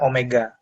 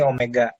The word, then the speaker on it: omega: Ini membacanya omega. Ini kayak W ya, tapi ini bukan W, ini omega.